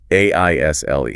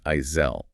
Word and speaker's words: aisle: A I S L E Oh, the invisible ants. It has an invisible, entirely silent S just sitting right in the middle of it.